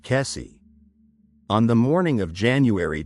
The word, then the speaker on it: Kesse: This is the story of what happened to Jennifer Kess, pronounced Kessie.